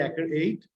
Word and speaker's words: ACCRE-8: this is Accra eight we call or we call again eight sometime so the proper pronunciation will be active eight it is an entry